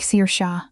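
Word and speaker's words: Saoirse: It's Irish. It sounds like Seir Sha.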